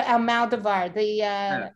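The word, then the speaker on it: Almodóvar: How do you say his last name, the pronunciation? Pedro Almodovar, That's it.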